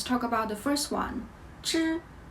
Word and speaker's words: 知: 知知知 Many people tell you that 知 sounds pretty much like the English sound J, like Jeep.